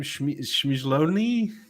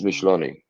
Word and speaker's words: Micheloni: How do you say his name? Shmizloni? It's Micheloni.